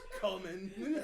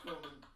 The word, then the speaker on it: cumin: I do believe it is pronounced common. Oh man. Oh, God. You're a 12-year-old boy. It might be coming. Oh, that's common. It's cumin. Is it? It's cumin.